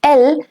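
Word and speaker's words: elles: are going to use l specifically for a group of girls all right only goals so it's l again in ill and L the S remains silent there is a change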